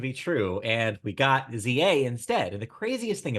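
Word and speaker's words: Z-A: It's ZA is apparently how it's said.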